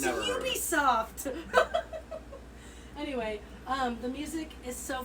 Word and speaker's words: Ubisoft: What is Nubisoft? Ubisoft. Woo! Do they spell it like N-O-O-B soft? No, it's UBI soft.